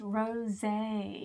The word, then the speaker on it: rosé: It's not a rose, is it? No, it's pronounced rosé.